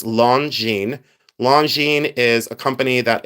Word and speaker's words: Longines: This is Longines, and it's spelled differently than it's pronounced, but it's Longines.